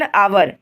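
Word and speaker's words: hour: एन आवर। एच आवर में क्या होता है कि एच साइलेंट होता है। इसलिए एन आवर पढ़ते हैं। आवर अ वोवेल है।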